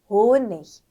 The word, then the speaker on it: Honig: Gut, Tag, Honig.